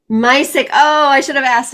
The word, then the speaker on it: Misek: Misek. Misek.